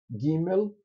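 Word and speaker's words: ג׳: Gimel, essa daqui, vejam, eles botaram um apóstrofo aqui, é porque ela é para ser pronunciada como J de jeans.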